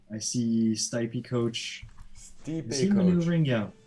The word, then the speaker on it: Stipe: And so it's pronounced Stipe.